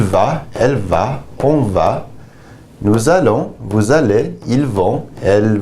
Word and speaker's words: nous allons: Je vais, tu vas, il va, elle va, on va, nous allons, vous allez, ils vont, elles vont. Notice the L's are pronounced here.